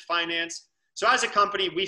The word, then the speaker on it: Fynanc: our company is finance we spell it with a quirky spelling but we we pronounce it finance so as a company